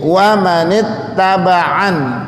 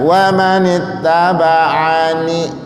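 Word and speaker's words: وَمَنِ اتَّبَعَنِ: Jadi wa manittaba'an, tulisannya wa manittaba'ani, tapi dibacanya wa manittaba'an gitu. Jangan ragu-ragu. Kadang-kadang anak-anak itu kalau diajarin ragu-ragu dia ngikutinnya. Ya, wa manittaba'ani. Nah, kalau dibaca ni itu salah karena ini kita berhenti.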